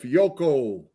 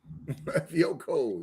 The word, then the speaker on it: Fiocco: Jared Devil said Fiocco. Fiocco, yep. That's how you say it, folks.